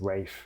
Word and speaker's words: Ralph: spelled like Ralph, but it's Rafe.